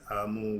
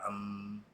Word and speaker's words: Amen: Um okay, amen is Amun with the U or they say with the E. The vowels are interchangeable, but it's spelled A-M-E-N. No vowel, don't got to worry about it. Amun, that's what they say.